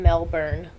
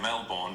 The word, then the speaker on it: Melbourne: Now, of course, you want to say Melbourne because that's how it's spelled, but for some reason, we call it Melbourne.